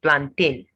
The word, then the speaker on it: plantain: not pizza it's pizza plantain not plantain the stress is on the first level planting milk not milk